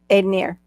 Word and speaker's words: Ednir: Aidenier. Like Aidenier. pioneer. Aidenier. Aid. Aidenier. Aidenier. Aidenier. Aidenier. Aidenier. Ooh. Yep. Aidenier. Like a pioneer. Aidonier, pioneer. Yeah, pioneer, Aidenier.